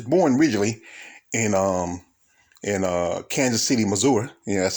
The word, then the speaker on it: Missouri: I mean, he was born originally in Kansas City, Missouri. That's how they say it out there. They say Missouri, not Missouri.